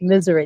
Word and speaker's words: Missouri: and that's the way when I was a kid, that's the way we said it in Missouri. So that's the way I say the whole SNS contracting said it's pronounced misery.